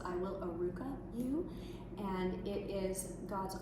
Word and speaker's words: Arukah: Can you spell it? Yeah, thank you. It's Arukah, and it's actually a Hebrew word that means restoring to wholeness in spirit, soul, and body.